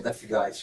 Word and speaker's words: Deathgeist: É, mas assim depois até você acaba acostumando, tendo essa ideia da da pronúncia death guys.